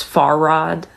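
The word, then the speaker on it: Fahrrad: of a root word so the word the German word for bicycle is far Rod so you would put an emphasis on the far on the far Rod vowels that are followed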